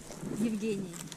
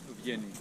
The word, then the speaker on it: Евгений: Евгений. Evgeny. Евгений. Evgeny. Да. Evgeny. Yes. Ага. It's the same. Now you pronounce my name.